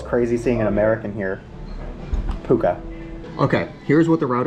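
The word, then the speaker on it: Pukë: good pronounce it okay update it is not pronounced puke it's pronounced puka P puka apparently the guy is paying for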